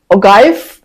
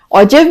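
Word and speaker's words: ogive: तो क्लास आ गए हैं हमारा नेक्स्ट टॉपिक ओगाइफ, जिसे हम ऑजिव भी कह सकते हैं, ओगाइफ भी कह सकते हैं, जो आप प्रोनाउंस करना चाहें, इससे कोई फर्क नहीं पड़ता।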